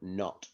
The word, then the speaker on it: know: Because the K and the N make one sound, not two sounds.